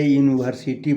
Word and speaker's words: university: यूनिवर्सिटी में यू तो vowel है लेकिन उसका उच्चारण जो होता है हिंदी में [नाक से की जाने वाली आवाज़] य होता है और य का इंग्लिश वाई होता है।